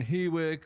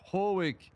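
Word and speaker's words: Hawick: Uh I hear a lot of people on the coms saying, "Oh, they're on Hwick or they're on Elgen." And I would just like to see that they're not they're actually pronounced Hoek and Elgen.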